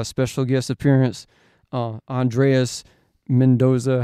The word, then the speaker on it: Mendoza: We got a special guest appearance, Andreas Mendoza.